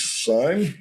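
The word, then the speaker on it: Syme: was done by Hughes sign I think his name is pronounced s-y-m-e is the same artist that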